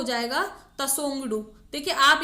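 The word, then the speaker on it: Tshogdu: और करे तो इसको वैसे तो तसोंगडू कहा जाएगा, फिर भी आप ये थोड़ा इंग्लिश TSHO ये वाला स्पेलिंग हल्का सा दिमाग में रखिएगा,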